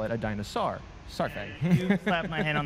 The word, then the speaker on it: Saurfang: And the funny one about that one is the pronunciation of Saurfang. Saurfang. No? Sour? Saurfang. Saurfang. Sour. Say it with me. Saurfang.